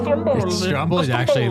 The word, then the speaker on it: Stromboli: Stromboli. Oh my gosh. Actually, it'd be pronounced Stromboli.